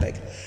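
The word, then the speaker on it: Necker: de Stal, vous savez la fille de Necre, hein Neer, mais Necre, ça se prononce Necre.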